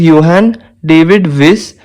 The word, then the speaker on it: Johann David Wyss: इसको ये J है लेकिन J is silent, so it is pronounced as Johann David Wyss.